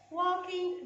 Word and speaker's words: walking: Walking the dogs, walking the dogs. Here in the word walking, we have L, which is silent. And here I don't say walking. No, I say walking, walking.